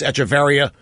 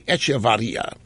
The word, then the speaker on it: Echevarria: speaking with political contributor some of you might think it's echeveria pronounce it both ways but it's actually echevarria and pedro spoke with